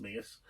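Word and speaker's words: Menzies: it the mingis but menes as a Scottish name is pronounced mingis um uh it won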